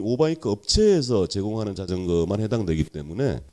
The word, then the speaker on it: 오바이크: 오바이크, OBIK. 이건 발음을 좀 잘해야 될 것 같습니다.